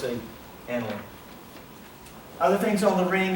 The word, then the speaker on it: aniline: You might call it aniline, but it's pronounced aniline.